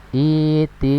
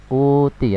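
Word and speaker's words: ائْتِ: Cara membacanya adalah dengan harokat kasroh. Iti bi Qur'an, iti, bukan uti ya, tapi iti bi Qur'an ya.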